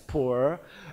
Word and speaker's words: pu'er: The traditional pu'er tea, and they are pu'er tea in China, pronounced as pu'er, and then from now on, Atomy Pu'er tea will make it pu'er tea.